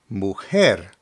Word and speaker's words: mujer: The J in Spanish is pronounced like the English H when it's at the beginning of a word. So here we have mujer, mujer, which means woman.